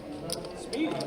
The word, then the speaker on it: Speedy: I'm anxious to try a Spidey. Speedy. That's how you pronounce it?